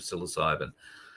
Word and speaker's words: psilocybin: Psilocybin, 1.5 grams of psilocybin. I've heard of most drugs. The only reason I can pronounce that one is because it's popped up